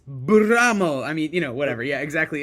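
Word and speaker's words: Blame!: Of course, you have to include Blam, the manga that everyone references. But more pronounce it right.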